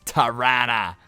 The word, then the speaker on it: Toronto: And you got to say it like Don Cherry, like Grapes does. It's not Toronto, it's Tirana. So let's resume simulation.